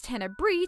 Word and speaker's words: Tenebrae: While Tenebrae's name comes from the Latin word for darkness, Tenebris, I decided to pronounce it as Tenebrae to make it sound a bit more fancy.